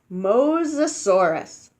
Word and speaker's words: Mosasaurus: bones in them you say it like this Mosasaurus Mosasaurus I can do this one I think